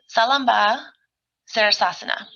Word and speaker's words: Salamba Sirsasana: So supported headstand in Sanskrit is Salamba Sirsasana or Sirshasana, depending on how you kind of pronounce it.